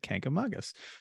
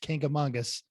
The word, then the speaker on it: Kancamagus: New Hampshire native relatives corrected me and said Kancamagus. So I remembered that because I prefer to pronounce things correctly if possible.